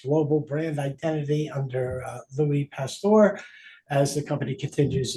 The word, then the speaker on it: Pasteur: It's Pasteur, like a pastor, right?